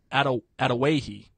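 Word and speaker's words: Adawehi: By the way, I checked that out, how to pronounce it. It's Atawahi.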